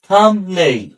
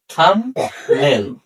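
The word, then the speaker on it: thumbnail: Number 4, M plus B পর পর থাকলে, বি এর পর কোনো ভাওয়েল না থাকলে বি উচ্চারিত হয় না। অর্থাৎ থাম্বনেইল, অর্থাৎ এম এবং বি পর পর আছে কিন্তু তারপর আছে এন, অর্থাৎ এখানে কোনো ভাওয়েল নেই, এজন্য কি হবে না, বি এর উচ্চারণ হবে না।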